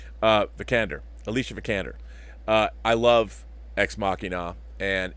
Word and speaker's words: Vikander: Oscar Isaac and Alicia benicar how do you pronounce the last name the candor Alicia vikander I love ex machina and it is our